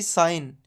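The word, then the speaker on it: sign: पर साइलेंट रहता है अगर जी के बाद एन है तो उसमें जी हमेशा साइलेंट रहता है जैसे कि साइन डिजाइन फॉरेन अलाइन इन सब में जी के बाद एन है तो जी साइलेंट होगा वैसे ही हम पढ़ेंगे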